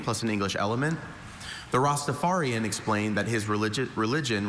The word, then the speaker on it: Rastafarian: I have a few pronunciations. Rostafarian. Rastafarian. Rostapharian.